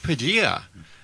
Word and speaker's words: Padilla: the executive producer, and Mike Padilla, rhymes with tortilla.